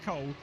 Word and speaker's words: Cool: We've got Hott and Cool, although I'm told it's pronounced Cole, but it is Damir Hott in the number 50 car, who's the first driver to set a benchmark time.